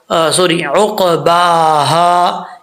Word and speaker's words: عقباها: عقباہا، اس کو ہا نہیں پڑھنا، اس چیز کا آپ نے خاص خیال رکھنا ہے.